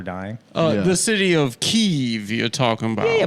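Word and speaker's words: Kyiv: just wanted you and of course the correct pronunciation is keev you're GNA make Adam intro himself the whole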